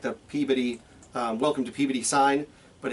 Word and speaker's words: Peabody: president and CEO of Friedman Financial located in Peabody Massachusetts not Peabody but you're all local you know it's Peabody right hey I got this great t-shirt from